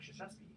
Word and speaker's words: Krzyzewski: See, I thought people were going to answer Mike Krzyzewski. No, he was later. Yeah, I pronounced that pretty well.